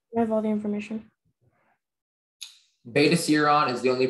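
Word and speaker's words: Betaseron: Beta serum is the only pronunciation.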